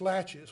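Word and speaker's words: laches: in civil court is latches at least that's the way we pronounce it in this part of the world it's French so I'm not sure if that's proper pronunciation but it's latches what does that mean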